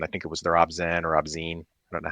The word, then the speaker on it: ObZen: Um that first track on I think it was the Ozen or Abzene, I don't know how to pronounce it album. Obzen.